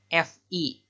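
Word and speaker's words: φ: Yang ini ditulisnya pi tapi dibacanya Fi. hati-hati untuk pelafalan orang Sunda kadang-kadang suka agak belibet, ada P sama F itu sama-sama aja.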